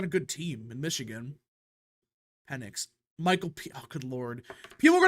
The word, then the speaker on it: Penix: It's just the way you pronounce it is all. Today we're going to be Penix. talking about It's Penix.